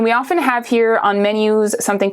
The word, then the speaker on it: menu: in English it's okay same word just pronounced the French way right menu in French menu menu in France typically